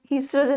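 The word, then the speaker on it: oestrogen: हाँ हाँ Swastika same same है, मैंने ओ नहीं लगाया, ठीक है, ओ लगा दो, ईस्ट्रोजन में आगे ओ लगा दो, ठीक है, ओ is silent, don't get confuse.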